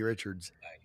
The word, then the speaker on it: Richard: when we were kids it's Richard bro is it J.R Richard it is Richard he might be related